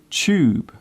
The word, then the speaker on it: tube: Do you notice how I pronounce the word tube? The first part of the word sounds like chair. It is common in British English to pronounce the TU sound as chew.